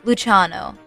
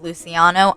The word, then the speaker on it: Luciano: Finally, we conclude with 2P Italy, known as Luciano, which I recently learned I've been pronouncing incorrectly my entire Hetalia experience. I thought it was Luciano. I was incredibly wrong.